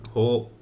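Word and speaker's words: 歩: Ho o susumeru. This is usually aruku, or it's to walk, but it can also be pronounced with ho, as in the word sampo.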